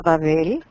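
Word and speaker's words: בָּבֶל: Por eso la ciudad se llama Babel, se pronuncia en hebreo Babel, porque ahí fue que donde el Señor confundió Balal, el idioma de toda la gente.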